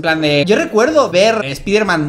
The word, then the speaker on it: Spider-Man: Aunque lo normal hoy es que Spider-Man conserve su pronombre original en inglés, es decir, Spider-Man, en España se pronuncia Spider-Man, de acuerdo a la escritura del español, porque esta era la pauta seguida con los nombres extranjeros cuando este personaje apareció.